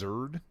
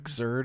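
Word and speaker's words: Xrd: Is it just pronounced Zord? Xzerd. Zd. Exz, I think is how I've hear people say it. Guilty Gear Xerd.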